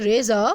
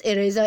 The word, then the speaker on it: eraser: We don't have to say razor. The correct pronunciation is eraser.